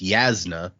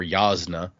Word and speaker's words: Jasna: I first read it that is not in fact correct so but what would it is it's yasna or yasna but what is it